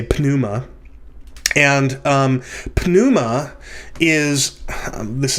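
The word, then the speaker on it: πνεῦμα: panuma in in english when we have a p before an n the p is silent but in greek you would say pnuma and um pnuma is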